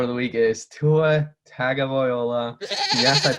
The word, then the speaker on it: Tagovailoa: My go of the week is Tua Tagovailoa. Yes, I pronounced it right.